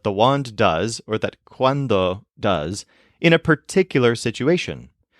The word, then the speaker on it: cuando: of a tricky one the word quando means when if you want to pneumonic for this the stress is on wand so maybe you're thinking of when you have a magic wand or quando you have